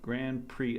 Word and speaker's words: Grand Prix: pre let pronounce pre Grand Pre attack oh my gosh what words are so weird why is the X silent if the x is silent don't have it there it's just the way